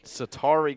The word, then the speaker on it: Sattery: So Simon, we just got a correction on the pronunciation of Garcia's first name. It's Sattery Garcia.